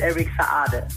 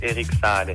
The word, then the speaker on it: Eric Saade: The real pronouncement is Eric Saade. La vraie version la vraie prononciation c'est Eric Saade.